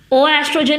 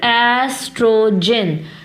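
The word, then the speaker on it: oestrogen: ओ एस्ट्रोजन नहीं, सिर्फ एस्ट्रोजन, which means कि जो ओ है वो साइलेंट है.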